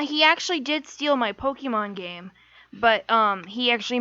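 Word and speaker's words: Pokémon: Yeah, he actually did steal my Pokemon game, but he actually mispronounced everything. So Pokemon were Pokermans, and every single Pokemon in existence was known as Pikachu.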